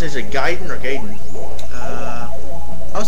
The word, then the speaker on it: Gaiden: It's Gaiden. Get it right. Get it right, moron.